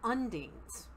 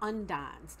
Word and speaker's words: undines: So the elemental being are undines or undines, depending on how you you want to pronounce it.